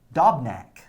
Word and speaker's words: Dobnak: Randy, Dobnak.